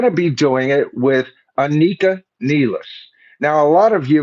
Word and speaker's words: Anika Nilles: And they're going to be doing it with Anika Nelis. Now, a lot of you may be uh uh uh calling her uh I have to look at the original spelling. Yeah, Anakin Niles.